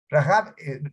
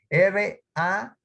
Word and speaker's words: Rahab: Rahab, fíjense cómo se escribe, R-A-H-A-B, B grande, Rahab, por eso es que se pronuncia así.